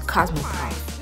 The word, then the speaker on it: Cosmoprof: I pronounced CosmoProf wrong in the beginning of this video, but it's CosmoProf.